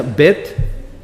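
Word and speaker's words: בית: que es una letra se escribe como bait se pronuncia bet y va a estar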